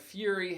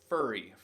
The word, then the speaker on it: fury: security law and that fury has erupted all across the country now i've heard students mispronounce this word countless times and it's not furry furry has two r's and furry is